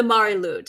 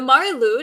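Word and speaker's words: Mari Lwyd: this practice in Britain across Britain was the marud and that's spelled m a r i l w d so the the marude is a skeleton horse and uh she is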